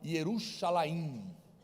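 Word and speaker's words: ירושלים: que quando eles pronunciam, eles não falam Jerusalém, que seria Jerusalém, eles falam Yerushalayim, porque tudo que termina em im é plural em hebraico.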